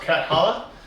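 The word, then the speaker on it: Cathala: who made it is Bruno calo catala how you better pronounced catalla uh it really is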